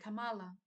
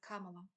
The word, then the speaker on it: Kamala: I could mention the fact that he has mispronounced Kamala Harris's name quite often, calling her Kamala instead of Kamala.